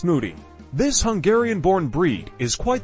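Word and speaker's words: Mudi: As it's a messy muncher and loves to play in muddy conditions, Moody, pronounced Moody.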